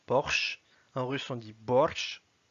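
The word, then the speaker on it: борщ: Borsch, qui est un plat typiquement russe, c'est une soupe. En français, on dit borsch.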